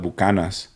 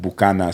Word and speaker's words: Buchanan's: like irish whiskey but they don't even call it buchanans they call it buccanas which is even funny it's like they can't they can't say the full name so they say it like like bukana so i was like